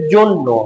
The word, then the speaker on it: জন্য: গদ্য অন্য হয়ে যাবে অন্য জন্য হয়ে যাবে জন্য ওকে এগুলো কিন্তু লিখে দিতে হবে এরকম পড়ে